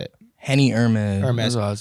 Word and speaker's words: Henny Hermes: Do you pronounce it Henny Hermes or Henny Hermes? Like, how do you say it? Henny Hermes.